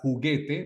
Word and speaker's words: juguete: el idioma por ejemplo cuando vemos esta palabra juguete muchas veces no tenemos el conocimiento suficiente y la pronunciamos de esta manera juguete verdad sabemos Eh en el en el nivel en el que estamos que en muchas palabras en la mayoría de las palabras esta u en esta posición no se pronuncia es muda en el